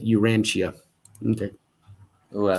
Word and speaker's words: Urantia: cool you ah okay thanks mud rabbit trying to help us uh pronounce it urantia okay oh i like